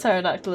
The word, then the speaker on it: pterodactyl: Um because the P at the start pterodactyl is a silent P. Therefore the P is silent.